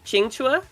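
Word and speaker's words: Qingque: Just to simplify it, but her name, I believe, is pronounced Qingchua.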